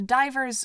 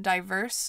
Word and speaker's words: divers: fun I guess also that's divers spelled like scuba divers not diverse like a diverse group I had to go